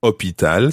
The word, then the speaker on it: hôpital: Hôpital starts with a silent H, so it's L apostrophe.